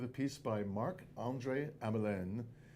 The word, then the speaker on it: Hamelin: piece by Mark Andre amalen or as he sometimes says Hamelin because he thinks everybody pronounces his name wrong so he just says say Hamlin it's going to play